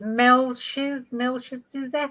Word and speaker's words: Melchizedek: It's Melchizedek.